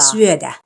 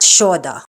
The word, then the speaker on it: syödä: Syödä, not shoda.